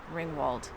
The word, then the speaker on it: Ringwould: to pronounce that and somebody told us yesterday ring Wald so if that's wrong